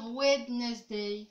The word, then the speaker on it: Wednesday: des wind day ok on ne prononce pas le d ici et ben ouais mais